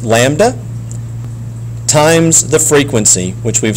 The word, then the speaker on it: lambda: So it's pronounced lambda times the frequency, which we've spoken about before.